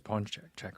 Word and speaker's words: paczki: plural i bought 12 punchy pun check i think it's pawn check right someone saw someone